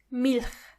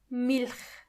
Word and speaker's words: Milch: In the German language, when you see a C and a H, together they are H. It's not a strong H, but more like a softer one. H. For example, Milch. Milch means milk.